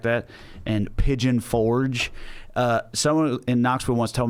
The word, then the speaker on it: Pigeon Forge: know the way to Piggy on Fulgay?" Pigeon Forge. So a British dude Piggy on Fulgay. pronouncing it like, what is that, French?